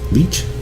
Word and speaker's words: lich: the soul of a lich. Oh, I hate those things. A lich, or leech? Lick. I think it's pronounced lick.